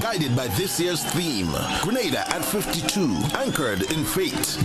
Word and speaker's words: Grenada: So today, like we German say, we are in Granada. But I heard in English it's called Grenada. Say it right. Grenada. Say it right. Grenada. That's right. Grenada. There we go. Say it right. It's not Granada.